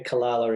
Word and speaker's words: Calala: Is it Kalala? I don't know how to say it exactly. Is it? Yeah, Kalala in Tamworth.